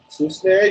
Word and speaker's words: Susneha: It's not Sneha. Again, pronounce it. Just Susneha. pronounce it. Tell me the spelling. I can read your name. It is Okay. S U for Sue, SNE Sneh, HA Yes, Susneha. sir. Yes, So sir. It's Susneha.